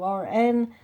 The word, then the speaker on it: Woburn: I will be going to Abraham Hicks in Woburn. My son tells me it's pronounced Woburn, outside Boston or near Boston.